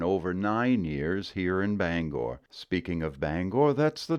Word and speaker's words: Bangor: nine years here in Bangor speaking of Bangor that's the next word you always know an outsider when they say Banger nope not even close Bangor Bangor next word is one